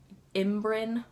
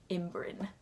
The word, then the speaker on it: ymbryne: loops and the ymbrynes That's how you pronounce it - you learn that in the third book imm-brinn, Y-M-B-R-Y-N-E, imm-brinn.